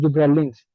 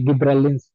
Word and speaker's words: gibberellins: एंड हाइपोनेस्टी ड्यू टू जिब्रेलिन्स या गिब्रेलिन्स। ठीक है जी, कोई भी इसकी प्रोनाउंसिएशन हो सकती है। मैं इसकी प्रोनाउंसिएशन अगर देखना चाहूँ तो मैं अभी देख लेता हूँ ताकि कोई मिस्टेक ना बाकी रह जाए। ठीक है जी। ठीक है, ये दोनों ही ठीक है। जिब्रेलिन्स भी ठीक है और गिब्रेलिन्स भी ठीक है।